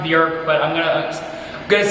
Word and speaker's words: Björk: Bjork and beer interchangeably because her name is pronounced Bjork but I'm gonna I'm gonna say Bjork because I'm gonna mess up I'm gonna mess